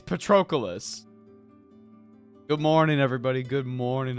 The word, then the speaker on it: Patroclus: when I was a kid, the first time I ever heard the name Patroclus was from Soul Calibur 5 when that blonde asshole showed up.